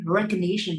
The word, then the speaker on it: recognition: So when you use the word recognition, you need to stress the syllable Z, okay? Try to be stronger in pronunciation. This is the best way for you to train yourself. So here, recognition, the recognition of this